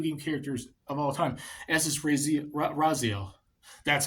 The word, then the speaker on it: Raziel: most iconic video game characters of all time Raziel that's how you pronounce it Brazil I haven't played the series